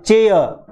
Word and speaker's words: chair: अब ये CHAIR, इसका सही उच्चारण क्या है, इसका सही उच्चारण सीखिए, चेयर चेयर, पीछे र है उसको बोलना नहीं है, चेयर चेयर।